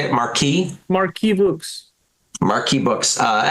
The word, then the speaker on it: Markee: the cover for how do you say it Marquee Marquee books Marquee books uh excellent cover um